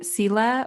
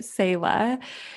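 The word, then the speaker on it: Selah: um so lots of people have been saying sila or cella and we pronounce it sayla and as of recording this she's just over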